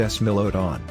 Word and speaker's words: Smilodon: several lineages one of which is the smilodon pronounced s melodon although the smilodon is a single species it